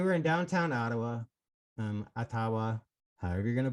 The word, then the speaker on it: Ottawa: supply chain they were in downtown ottawa um atawa however you're gonna pronounce it it is actually legally technically pronounced atawa but everybody pronounces it um they've been down